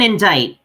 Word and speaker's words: indict: The C in indict. The word indict. You don't pronounce the C. Indict. You don't pronounce it indict. It's indict.